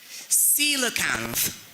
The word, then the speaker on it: coelacanth: The word is coelacanth. Coelacanth. Coelacanth. CYNOCAMP. Coelacanth. That's not correct. C-O-E takes that pronunciation, takes the sound C, okay?